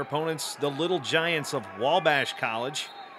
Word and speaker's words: Wabash: the little giants of Wabash College spelled at WA Vash but pronounced like there's an L in there the little giants is